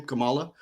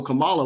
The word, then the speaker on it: Kamala: Kamala. So Kamala, with her deal, like right now, I guess the conversation is with the Divine Nine and the Greeks or whatever.